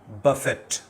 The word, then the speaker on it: buffet: double F ई टी बुफे अब अगला मतलब इसका समझने के लिए आपको टी बोलना पड़ेगा बफेट अब बफेट जो है ये